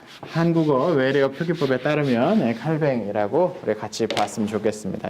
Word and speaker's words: 칼뱅: 병 이라고 썼을 지 모르겠지 그러니까 다양한 복잡한 발음 들이 있으나 우리는 예 한국어 외래어 표기법에 따르면 칼뱅 이라고 그래 같이 봤으면 좋겠습니다 이름은 장치에서는 짱아